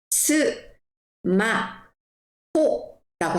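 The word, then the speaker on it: スマホ: 그래서 우리가 간단하게 줄여서 말을 하자 해서 일본 사람들은 요렇게 발음을 합니다. 자, 스마트폰을 스마 호라고 하거든요. 자, 저랑 다시 한번 읽어 볼까요?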